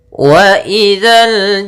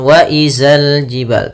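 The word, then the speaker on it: وَإِذَا الْجِبَالُ: Kemudian waidzal jibalu nusifat. Waidzal jibalu nusifat. Pada lafal dza sama kembali di sini jangan dibaca dengan zai. Jangan wazal jibal tapi waidza.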